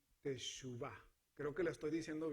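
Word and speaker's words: תשובה: Esta es la palabra hebrea para arrepentimiento, que se pronuncia teshuvah.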